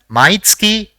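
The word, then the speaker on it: まいつき: see the next word the first character in the word is ma the second is e the third is TSU and the fourth is Ki so it will be pronounced as mitsuki which means every month now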